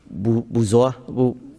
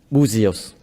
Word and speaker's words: Buzios: I need a motion to approve the contract for the Special Education Director, Buzoa, am I saying it right? Buzios.